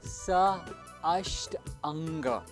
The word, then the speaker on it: Sashtanga: Sashtanga Namaskara, pronounced as Sa Ashtanga, where Sa means along with or together.